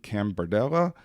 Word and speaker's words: Cambardella: We are in the Chamblee Chamber of Commerce offices, and we are talking today with Cambardella. Did I pronounce that right?